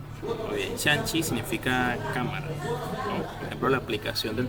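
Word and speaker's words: 相机: primero cámara fotográfica Cómo se dice sí correcto shanchi bien shanchi significa cámara la aplicación del teléfono todos los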